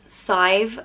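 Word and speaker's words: Sadhbh: the next name is scythe and it means sweetness and goodness and is pronounced scythe like rhyming with five and scythe is a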